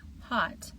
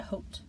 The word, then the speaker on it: hot: So, instead of saying hot, they would say something closer to hote.